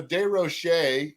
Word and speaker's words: DesRochers: Yeah, so DesRochers is the French pronunciation.